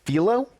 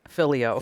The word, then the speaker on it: Philo: How do you pronounce that? Is it Philo? Yes, Okay. I always say Filio.